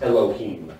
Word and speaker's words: Elohim: his driver's license at autotopia and Disneyland It's pronounced Elohim I'm sorry just for the record thank you